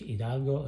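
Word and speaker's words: Hidalgo: says here uh H idalgo you don't pronounce the h but idalgo auko that's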